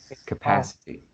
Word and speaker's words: capacity: Uh, yeah, also the same line, capacity, capacity. Which one need to strengthen? Is The second syllable, oh, capacity.